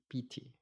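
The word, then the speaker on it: pīti: Pali the word p-i-t-i actually you pronounce as p-e-e p e e p t not as a bit longer I longer long eye here yeah pity now this excitement this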